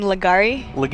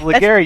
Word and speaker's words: Legarie: promise promise me your your last name just makes you want to say legari but okay legary there legary also